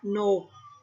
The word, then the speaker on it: กนก: กลาง นํา ค่ะ เช่น กนก อ่าน ว่า กนก จรวด อ่าน ว่า จรวด